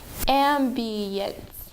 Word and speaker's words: ambience: The last one, ambience. Ambience. There are 3 syllables and the first syllable.